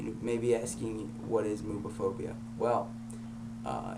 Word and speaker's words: Moobaphobia: just wanted to talk today about binding and mobophobia yeah movie phobia um it's spelled m-o-o-b a p h o b i a uh so moveophobia I think um you know most uh trans